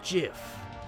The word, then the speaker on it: GIF: your head like a gif it's not the truth it's pronounced GIF huh do GIF like the peanut butter the Creator said so that's dumb it's Graphics